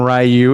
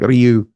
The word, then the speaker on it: Ryu: Actually, even saying it that way is not exactly right because the appropriate way kind of doesn't put so much like emphasis on the R. Yeah, it's like Ryu.